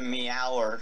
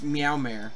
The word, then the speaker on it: Meowmare: The Meower sword is the best. Yeah. Actually, it's Meowmare. Like, Nightmare.